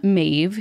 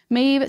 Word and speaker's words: Maeve: Maeve starts, hey, spirits team, it's Maeve. I also appreciate Maeve that says pronounced like cave, which is very funny to me.